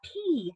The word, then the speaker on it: pea: All right, think of the word, let's see, a pea, like the little green peas that you eat. That's spelled P-E-A. That has a long E, and that's a long E because there are 2 vowels walking, and the first one does the talking. The E says name, and the A is silent.